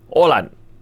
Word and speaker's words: Haaland: Oh ya, Haaland tuh bacanya Olan, tapi dia tetap gak apa-apa katanya panggil gue Haaland aja.